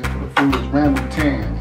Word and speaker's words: rambutan: Correct pronunciation for the food is Rambutan.